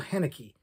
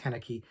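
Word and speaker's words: Haneke: my guess is Michael henneke and I'm not sure I'm pronouncing the name right but I believe it's hanaki uh Michael hanake who not only directed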